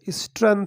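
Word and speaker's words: strength: यानी होता है ताकत, स्ट्रेंथ पढ़ेंगे इसको, जी क्या है, साइलेंट है, स्ट्रेंथ, यूज़ देयर यानी देयर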